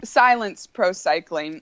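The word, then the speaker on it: Cylance Pro Cycling: It's pronounce it because it's sort of an interesting spelling. Yeah, it's Silence Pro Cycling.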